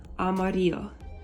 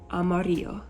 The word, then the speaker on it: amarillo: fun one to say it's Amarillo so the two L's next to each other actually make a y sound Amarillo Amarillo okay so let's put